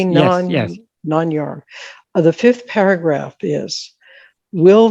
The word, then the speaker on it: Nāṉ Ār: Am I pronouncing it correctly? Yes. Nāṉ Ār.